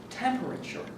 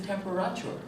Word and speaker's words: temperature: going to say here temperature that word uh it it for me the accent is on the first syllable and and for you it was temporature I believe and Kalahari